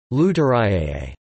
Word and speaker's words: Luterā'i: Lutari, pronounced Lutariae, a secret language combining an Aramaic and Hebrew vocabulary with Persian conjunctions and grammatical morphemes.